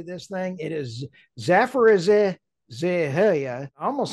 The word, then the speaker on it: Zaporizhzhia: It is Zaporizhzhia.